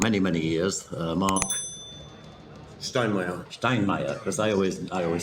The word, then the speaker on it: Steinmeier: Steinmeier, because I always say it wrong.